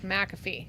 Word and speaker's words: McAfee: Mac. Because I heard him say his name. He says McAfee.